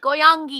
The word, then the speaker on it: Goyangi: Is that how you pronounce it? Yeah, all good. Goyangi.